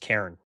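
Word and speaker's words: cairn: that's what it refers to and yeah it's pronounced Karen that's how I say it too yeah saying Good.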